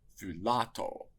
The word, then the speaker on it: φυλάττω: The word should be accented thulato, with an acute accent on the penult.